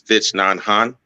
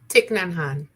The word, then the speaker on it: Thich Nhat Hanh: away, I can't, I'm not sure if I'm pronouncing his name right, but it's Thich Nhat Hanh. I think that's how it is. He's Vietnamese. He was actually a proponent. Thich Nhat Hanh.